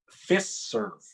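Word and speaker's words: Fiserv: first so my pick is a company called fist serve it's spelled f-i-s-e-r-v fist serve uh the ticker symbol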